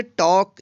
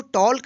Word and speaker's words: talk: इसको टॉल्क नहीं पढ़ेंगे। क्या पढ़ेंगे? टॉक। टॉक मीन्स होता है बात करना। तो यहाँ पे देखिए के से पहले एल आया है, इसलिए यहाँ पे एल का उच्चारण नहीं हुआ है।